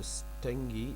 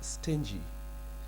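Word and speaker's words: stingy: इ not good of स्टिंग इट्स नॉट स्टिंग इट्स स्टें जीी जे की आवाज आएगी सर प्लीज चेक द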